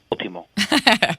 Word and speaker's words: Último: Último.